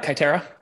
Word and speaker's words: Kaiterra: the CEO and Liam forgive me if I mispronounce this katera is that how you say it uh yeah kitera that's right all right great and